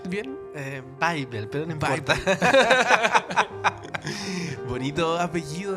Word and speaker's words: Weibel: Mauricio Weibel, ¿se pronuncia bien? Bible, pero no importa.